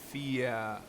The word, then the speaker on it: Fia: Okay, accent on the first vowel, and then the E at the end is pronounced like E and get. So, Fia.